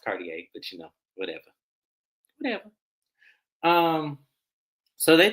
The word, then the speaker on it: Cartier: Bravo, it's pronounced Cartier, but whatever.